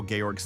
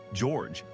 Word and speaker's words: Georg: certainly odd translation choices to discuss like how gorg's name is pronounced George in cutscenes The Dusk run being ramed the